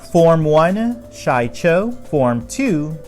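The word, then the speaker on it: Shii-Cho: the forms back to back here are my pronunciation form one Chacho form to Makka she formed three sorry sue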